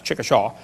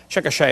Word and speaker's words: Chickasha: it 2005 textbook and I pronounced it wrong as Chickasha that's Chickasaw Chickasha Oklahoma I got corrected during the